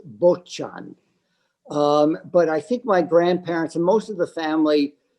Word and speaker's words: Bocian: Well, the name means stork in Polish, and I think the correct Polish pronunciation is Bocian. But I think my grandparents and most of the family pronounce it as Bocian.